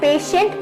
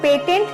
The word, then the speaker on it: patient: पेशेंट अगर आपको लिखना होता है तो इसके बाद में देखना आप, ये स्पेलिंग लगी होती है, ये PATIENT, तो इसको हम पेशेंट पढ़ते हैं, पेटेंट नहीं पढ़ते, क्योंकि यहाँ पर जो